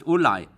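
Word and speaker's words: אולי: Eli Ksiv, Rashi there says, look, it says Eli when it's actually pronounced Ulai.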